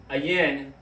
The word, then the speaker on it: ayin: And then the O, which is pronounced like, which is the symbol of an I, and it's actually pronounced ayin in Hebrew, became the O, so whatever, and to me, it just looks like a fucking zoo.